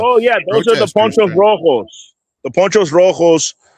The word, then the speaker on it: poncho: Oh yeah, those are the Ponchos Rojos. The Ponchos Rojos. They wear their ponchos, which is pronounced poncho in Spanish. That's a weird way to say it.